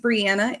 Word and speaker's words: Brianna: So, my name's Brianna. It rhymes with Indiana.